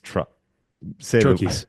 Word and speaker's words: troche: One of these troches. Troches. Why do I want to say troshes? Troches is sometimes how it's said, but troches is the correct way.